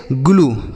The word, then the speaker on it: glue: GLUE तो इसे हम पढ़ेंगे ग्लू, क्या पढ़ेंगे ग्लू। तो आप देख रहे हैं यहाँ पर जो यू का उच्चारण है वह बड़ाऊ की मात्रा हो रहा है, ठीक।